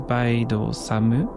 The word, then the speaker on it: Baido Samu: Samuel Baido, pronounced and written in Japanese as Baido Samu, is composed of the characters plum, road, tea, and dream.